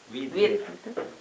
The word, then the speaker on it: with: Many people have pronounced with. With.